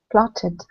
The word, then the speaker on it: plotted: okay good um uh julieta plot plotted which column third column good yes plot it we end up with a another syllable um hector the next one